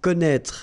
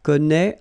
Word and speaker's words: connaît: So don't forget this circumflex, even if you don't pronounce it well, you should write it. Well, you pronounce these three forms the same way.